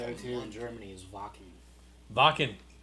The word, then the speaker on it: Wacken: It's with a W, but it's pronounced Wacken. Ah, that's right. German. W-A-K-E-N.